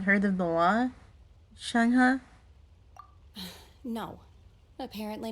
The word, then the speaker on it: Shenhe: Shenhe. Shenhe. Shenhe. Shenhe? Shenhe. Shenhe. Yeah, I was pronouncing that completely wrong. Oh dear. Shenhe. My name. Oh, so your name's Shenhe.